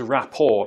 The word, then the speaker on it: rapport: Yeah, the correct answer is raor. Because it's a French word, they don't pronounce the t at the end.